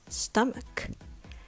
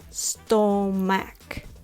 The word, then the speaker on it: stomach: how to say it the first syllable is pronounced stum with the u sound like stuff stuck or now this is